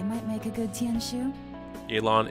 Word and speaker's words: Yelan: make a good tianshu Elon is indeed the correct pronunciation I'm just like but the English in me is just like why e yilon because if I said yaylon yeah you probably just switch it to an a I guess I don't know